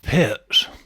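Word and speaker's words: Pirc: what you played D6 the perk defense it's pronounced pits it is when you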